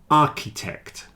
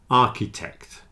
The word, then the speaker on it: architect: stomach ache stomach ache architect and chemist they have a CH which is pronounced like a k stomach a stomach a architect chemist so here's a